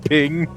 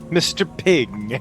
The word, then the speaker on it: PNG: His name is Mr. PNG pronounced ping. Mr. Ping and it's just spelled PNG.